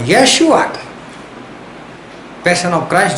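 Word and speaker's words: ישוע: इब्रानी लोग मतलब इज़राइल के लोग जब यहोशुआ वो बोलते हैं, प्रोनाउंस उच्चार करते, तो उनके मुंह से ऐसा निकला यशुआ।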